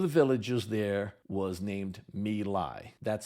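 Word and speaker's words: My Lai: Vietnam one of the villages there was named Mei that's spelled m y space l AI the American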